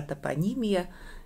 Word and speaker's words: топонимия: вы занимаетесь нум сго топонимия Да поставим ударение правильно вот а есть ещё топонимика и мы ещё и сами иногда путаем что И что топонимика - это наука о географических названиях А топонимия - это собственно Вот